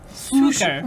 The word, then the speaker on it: succor: Suker.